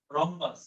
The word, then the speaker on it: rhombus: হ্যাঁ, আচ্ছা ঠিক আছে। RHOMBUS, এটি এইচটা বাড়তি।